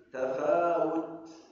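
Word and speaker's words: تفاوت: Tasawut harus baca ta alif wau ta tafut tafawel wau jana banyak waktu bacanya tafaut tafaud tafawaskan ta yang terakhir tafawut ada hams ma fi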